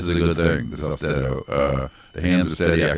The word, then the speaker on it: Austedo: So we need to say that Austedo, I want to pronounce it wrong for some reason, but it's Austedo, like steadiness of hand, which my hands are